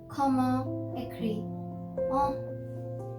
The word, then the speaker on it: comment écrit-on: Now this is our second last sentence, which is comment écrit-on. And in this also you do not pronounce the T, you just say it till écrit, so which means how do you write.